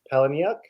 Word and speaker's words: Palahniuk: Chuck Palahniuk, the guy who wrote Fight Club. Oh, Chuck Palahniuk. Palahniuk, Yeah.